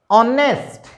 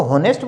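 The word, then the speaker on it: honest: ऑनेस्ट, ऑनेस्ट, ऑनेस्टी बन सकता है, ठीक है। अब इसको होनेस्ट बोलोगे तो इसका उच्चारण गलत हो गया।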